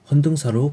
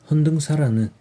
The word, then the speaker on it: 헌등사: 않아도 전달되었습니다 책 제목은 헌사하는 의미를 알기 어려운 한자어로 되어 있습니다 헌사 견당사 똑같이 발음되는 단어입니다 견당사 일본의 7에서 9세기